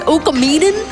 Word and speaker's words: Okamiden: So, let me pronounce it correctly. Okamiden direction.